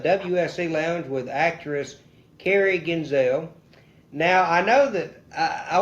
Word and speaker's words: Genzal: Lounge with actress Carrie Genzal. Now, I know that I want to know this. I know that your last name is pronounced Genzal, the same thing as Denzel Washington.